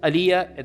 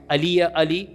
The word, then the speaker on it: Alija: His name is Alija, there's a J in it, but the J is pronounced Y. Alija Izetbegovic, and he was born in 1925 in a small village in Bosnia.